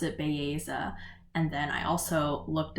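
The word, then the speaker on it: Belleza: i was listening to the audiobook and they pronounced it baeza and then i also looked up like interviews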